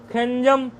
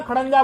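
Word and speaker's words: खञ्जौ: उच्चारण कर लेंगे, खन, खंजौ, खंजह, खंजम, खंजौ, खंजह। ऐसा ना समझना खड़ंजा बोल रहे हैं, खड़ंजा नहीं, खंजौ है, खंजह, खंजा, खन ब्याम, यहाँ खंज नहीं है, यहाँ क्या है?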